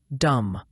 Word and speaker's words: dumb: Dumb. The B is silent.